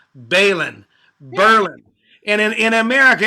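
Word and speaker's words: Baline: repeat after me israel bailin bailin like berlin bailin yeah but i'm saying the accent is on the first syllable bailin berlin and in in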